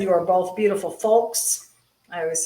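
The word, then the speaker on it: Fokes: Tracy Corfell said, "You are both beautiful folks."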